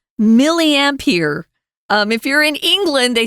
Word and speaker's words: milliampere: And again, it's milliampere. If you're in England, they say milliampere. Really? Closer to, of course, well, they don't pronounce the R. Closer to the French pronunciation.